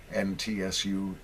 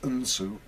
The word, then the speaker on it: Ntsu: such as Taxi Red, NTSU. Actually, it is pronounced Unsu. I believe it is a Watusi word, meaning eagle.